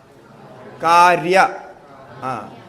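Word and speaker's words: kārya: fact or product or in sanskrit we say caria you pronounce it Correa this we have to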